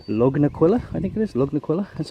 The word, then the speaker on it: Lugnaquilla: Lugnaquilla, that's how you say it.